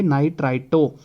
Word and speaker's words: nitrito: लेकिन latest IUPAC nomenclature के according NO2 negative को क्या बोलेंगे, नाइट्राइटो। क्या बोलेंगे, NITRITO। ठीक है, इसकी स्पेलिंग क्या है, NITRITO, नाइट्राइटो।